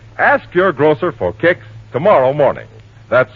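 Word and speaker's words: Kix: All right, ask your grocer for Kicks tomorrow morning. That's spelled K-I-X.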